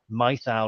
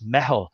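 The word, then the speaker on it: meitheal: to be Irish there it's not Emmy well it's spelled m-e-i-t-h-a-l I thought it was mythal or methyl and it's kind of thing what's that but it's it's metal and I think it's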